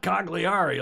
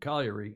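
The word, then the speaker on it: Cagliari: in southern Sardinia it's colliery oh yeah Andrew Pinder knows how to pronounce that better than I yes it's not cogliari like all the anglos pronounce it colliery in Sardinia Southeast corner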